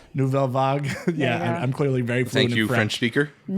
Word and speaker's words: Nouvelle Vague: I don't know the full story of each, we have Nouvelle Vague, I believe is how you are supposed to pronounce it. Nouvelle Vague.